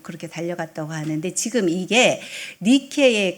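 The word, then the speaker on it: Nike: 니케의 영어식 발음이 나이키고 그 그림 한번 볼까요?이 이 나이 어 예 조기 이제 마라톤 파란색이 이제 바닷가예요.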